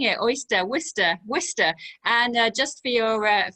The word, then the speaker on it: Worcester: england she lives in the city one cannot pronounce that is wonderful i was like oh she lives in waters and she's like no it was worcester i was like wait whistle that's a really